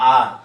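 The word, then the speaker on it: hour: और होता है एच ओ यू आर। इसको बोलते हैं आर।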